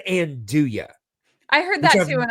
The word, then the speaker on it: andouille: The way I've always heard it pronounced is andouille.